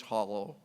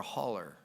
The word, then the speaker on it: hollow: The community in which we're holding this symposium was known as Miller's Hollow. I never know whether I should say hollow or holler. Some parts of the country they say holler.